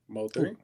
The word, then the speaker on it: Mo3: Mo3.